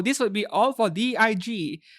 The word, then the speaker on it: DIG: So, this will be all for DIG. They have to pronounce it DIG because otherwise it sounds like DIC K.